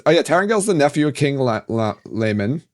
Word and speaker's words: Laman: Tarangale's the nephew of King Layman. I'm so glad they said Layman because that's how I pronounced it, and everyone else was pronouncing it Laman, and I was like, that sounds stupid.